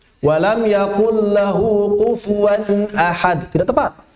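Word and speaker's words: لم يكن: Saya sering mendengar ketika talaqi banyak masih yang membacanya walam yaqul. Walam yakul lahu kufuwan ahad. Tidak tepat. Harus kaf bukan qaf.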